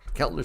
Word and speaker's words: Keltner: You've taught us the stochastic, the RSI, and now you're teaching us the, how do you pronounce it again? The Keltner channel. Keltner channel.